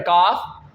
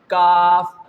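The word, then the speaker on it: ك: And what's about the second letter kaf? In its pronunciation, our tongue remains in its place. Kaf. You have not to make any effort when you are going to pronounce this letter kaf because simply we perform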